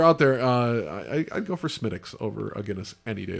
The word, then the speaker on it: Smithwick's: A lot of people will call it Smithwick's because that's how it smelled, but it's Smittix.